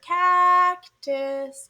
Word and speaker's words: cactus: It's the first syllable because you call it loud and clear, cactus.